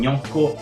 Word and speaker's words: gnocco: Try to pronounce it with me. Yeah, yeah, yeah, gne, like in gnocco and lasagna.